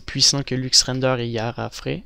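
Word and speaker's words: YafaRay: que Lux render et yarf il y a je crois que c'est yfr ouais c'est comme ça qu'on le prononce et le blender render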